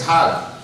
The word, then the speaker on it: Hajj: And in Egyptian Arabic, it's pronounced a little differently. Instead of Hajj, the J becomes a G. In Egyptian Arabic, it's Hag.